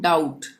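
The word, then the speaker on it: doubt: last में ब है तो हम बी का उच्चारण नहीं करेंगे हम इसको क्या पढ़ेंगे डाउट डाउट का मतलब संदेश सबको मालूम होगा ठीक है तो इसमें क्या होगा यहां पर भी बी का उच्चारण नहीं होगा प्लीज लाइक जरूर करें चैनल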